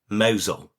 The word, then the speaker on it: Mousehole: And it is actually spelt Mousehole, but it is pronounced Mousehole.